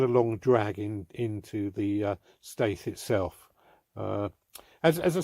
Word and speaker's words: Staithe: Staithe.